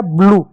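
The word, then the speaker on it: blue: यू ई को क्या लिखेंगे? ऊ की मात्रा लिख दो। बड़ा ऊ हो गया। ब्लू क्या हुआ? ब्लू। ब्लू हो गया।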